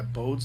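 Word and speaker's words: Bode: the solar system architecture so it abides by bod's law is that what it is yes I think it's bedet I think that's how you say it b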